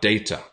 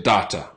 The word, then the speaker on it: data: So some people say data, okay? Some people say data. For me, that sounds a little bit unnatural. It sounds pretty unnatural. Data. Data. I wouldn't say it like that. Personally, some people do say it like that, but I would say data.